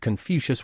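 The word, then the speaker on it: Confucius: his cheek hard and it's pronounced confucious ya brat he was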